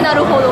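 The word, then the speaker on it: 成歩堂: 成功のせいに歩くに、堂本の堂でなるほどって読むんですけど。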